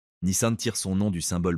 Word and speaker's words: Nissan: La prononciation correcte en japonais est Nissan avec un son plus fermé que d'habitude.